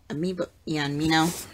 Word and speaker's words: Amino: Amino, that's how you say it.